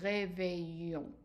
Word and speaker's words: réveillons: Now, for we wake someone up, the regular one is nous réveillons. And again, the O-N-S here, but the S is not pronounced.